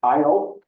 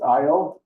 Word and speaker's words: Io: is the inner Moon IO it's spelled just like it sounds it's IO and it's a tortured